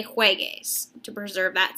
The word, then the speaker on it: juegues: So in order to get that G sound, we're going to add a U. Juegues, juegue, jueguen. The U is just there to help us preserve the sound.